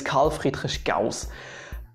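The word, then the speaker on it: Carl Friedrich Gauss: just called leonhard euler surprisingly enough most people pronounce his name correct it might ring a bell his name is karl friedrich gauss gauss so you see um it's really easy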